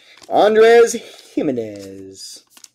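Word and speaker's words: Jiménez: Andres Jimenez. Looks like a G, pronounced like a J.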